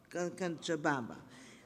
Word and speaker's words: Cochabamba: He is the president of the Medical College of the city of you have to tell me how you pronounce it. Cochabamba.